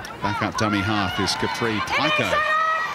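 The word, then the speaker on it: Capri Paekau: Back up dummy half is Capri Pico, as she calls herself on the pronunciations.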